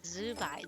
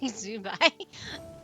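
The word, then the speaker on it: Zibai: You end up saying poop in Chinese, but it's like Zai Zubai. Zubai, but it's spelled Z I B AI.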